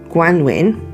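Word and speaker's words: Gwanwyn: It's G W A N W Y N, pronounced Guanwin, means springtime.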